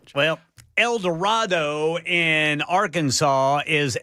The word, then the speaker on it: El Dorado: Well, El Dorado in Arkansas is El Dredo.